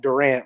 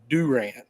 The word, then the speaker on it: Durant: in you got Durant it's not Durant like Kevin Durant it's Durant you got Boswell you